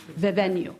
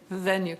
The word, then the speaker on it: Vivenu: Is Vivenue, how's it pronounced? Vivenue. Vivenue.